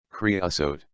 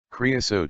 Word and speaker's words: creosote: it is the dominant desert shrub it is pronounced creosote creosote in bloom many people who are new to